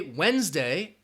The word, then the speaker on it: Wednesday: notice oh you know if you say Wednesday you're not going to hear that D sound that D is silent so there are seven